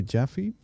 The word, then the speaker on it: Jaffee: Today we're going to talk to Jaffy. That's correctly pronounced.